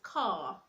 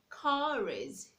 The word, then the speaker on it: car: Normally you ought to pronounce the word car as car, okay? But when you want to link it to a vowel, let's say I want to link it to is, I'll say car is, car is.